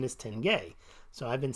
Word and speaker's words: tenge: aches and pains but I called it the Tenge because I was calling it the tinge te ngae and someone who I assume has neurology could just BBS at me he said the proper pronunciation is Tenge so I've been saying tenge since then but